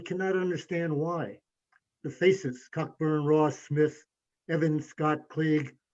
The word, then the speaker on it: Cockburn: crisp soon enough the the british admiral's name is cockburn sometimes pronounced coburn and so on as